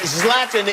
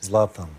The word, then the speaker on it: Zlatan: Zlatan is the correct pronunciation, yes? Zlatan.